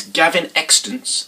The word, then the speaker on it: Gavin Extence: the choice that we had this week is Gavin extant that's how you pronounce it a first-time writer debut author the